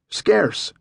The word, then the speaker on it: Scarce: Scarce, just like the word scarce, Herman replied.